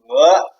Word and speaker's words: 和: Actually, this is I hope you do not pronounce it he or she or he. No, it's he, because this word is pinyin of this word.